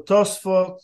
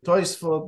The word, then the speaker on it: Tosafot: That's Oh, it's Tosafot. different? Oh, okay, And well, most people pronounce it also Tosfot or Toisfot, depends if you're Ashkenazi or Sephardi.